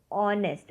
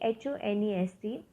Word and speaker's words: honest: Now, here the word is honest. Okay, HONEST. It is pronounced as honest and not honest. Okay, H is silent in this word, so you will not say it as honest.